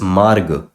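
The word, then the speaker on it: मार्ग: You pronounce as marg, because this means there is a ra before this consonant. So marg. Marg.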